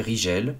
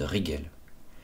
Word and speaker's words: Rigel: et enfin SAF et Rigel que certains prononcent Rigel il faut savoir que